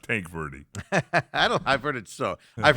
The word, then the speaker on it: Tanque Verde: John's plays on the other side, and Tanque Verde. Am I saying that right? No. Tonke Verde. Tonke? There's an A in there. Tanque. No. I think it might be pronounced Tank Verde.